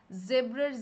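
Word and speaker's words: zebra: Magnesium, এ থেকে aluminium, জেব্রার জেড থেকে zinc, যদিও জেব্রাকে জেব্রা বলে না, জিব্রা বলে।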